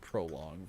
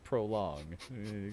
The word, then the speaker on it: prologue: I said prologue version. You sure did say It's prologue. about $25. It's so sad. So sad. Cue it up. Mispronunciation counter goes up by 1. Prologue, not prolong.